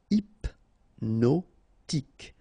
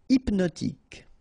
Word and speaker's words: hypnotique: Remember, at the end, Q-E, K, tic. So H is not pronounced. Hypnotique. Hypnotique.